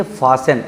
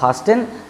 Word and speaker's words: fasten: यहाँ भी TEN था इसीलिए आप देख लीजिए फासेन, FASTEN, फासेन का मतलब बांधना होता है। इसको आप फास्टेन नहीं पढ़ सकते क्योंकि नियम के अनुसार TEN शब्द के अंत में आया है, टी साइलेंट हो जाएगा।